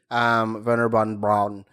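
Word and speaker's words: Wernher von Braun: Like you meet Werner von Braun. That's how you pronounce it.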